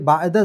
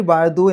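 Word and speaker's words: بَعْدُ: ഇപ്പോൾ മിൻ വന്നു വരിക, മിൻ ബഅദു എന്ന് തന്നെയാണ് പറയുക, മിൻ ബഅദി എന്ന് പറയില്ല ഇത്തരം സന്ദർഭങ്ങളിൽ. ശരി, ഫമാ യുകസിബുക ബഅദു ബിദ്ദീൻ,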